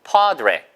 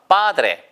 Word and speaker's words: padre: 그러니까 스페인 말에서는 padre라고 하고요. 영어에서는 padre가 맞을 거예요. padre. 아시겠죠? 이게 보세요. 왜냐면 스페인 말을 그대로 살려야 되기 때문에. 그래서 보세요. padre. 근데 영어에서는 에 발음으로 끝나는 걸 좀 힘들어 하거든요. 그래서 padre 이렇게 발음하는 원어민도 있어요. 아시겠죠? 보세요. padre 아니면 padre 다 좋습니다.